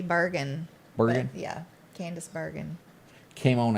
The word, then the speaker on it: Bergen: that i did not candice bergman is her name did i pronounce that right yeah i think it's supposed to be bergen yeah candace bergen came